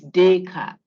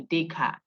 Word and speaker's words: Descartes: So day, then the car, the TES is silent, it's French. So like day today, and then car, driving your car. So day car.